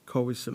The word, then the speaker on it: Khoisan: Khoisan, and then San. Got you. Okay, I just wanted to get the pronunciation. Khoisan.